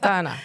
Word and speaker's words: Dana: That's how I pronounce it, isn't it? Donna. D. Yeah, Donna. Dana. But not Dana. Not Dana. Donna.